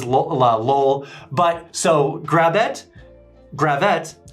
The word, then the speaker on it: Gravette: how I remind myself it's grab it grab that not Gravette so I don't know if that's a minor detail but that's how I know to be pronounced is Gravette not Gravette does anyone care I